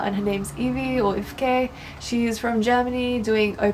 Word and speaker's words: Evke: Her name is spelled E-V-K-E, which is Ifke, but everyone just calls her Evie.